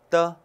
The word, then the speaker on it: 的: 계속해서 的. 的. 네, 的 같은 경우는 보세요. 지금 경성이죠. 경성도 가볍고 짧게 해야 돼요.